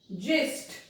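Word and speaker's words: gist: अब हम लोग देखते हैं जी के बाद में आई, एजाइल, एजाइल, जिस्ट, इंजीनियर, जी आई आया, यहाँ पे देखिए आई आई आई, तो इनकी साउंड क्या हुई, ज।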